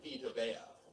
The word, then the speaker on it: Vita Vea: Guys like Saquon Barkley, Denzel Ward, Roquan Smith, Minka Fitzpatrick, Derwin James, Frank Ragnow, Quentin Nelson, and Vita Vea. Just had to say his name correctly because I mispronounced it a few videos back.